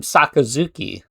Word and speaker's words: Sakazuki: I, you know, I never I always called him Sakazuki, but here he calls him Sakazuki.